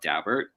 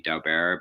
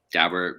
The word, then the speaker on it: Daubert: States Supreme Court called Daubert. And it looks like it should be Dow bear, but I'm told by people who know the Dauberts that that's the way they pronounce their name.